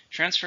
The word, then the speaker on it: transfer: Transfer is to change from one to another. It's a verb. How many syllables are in transfer? 2. Stress on the first.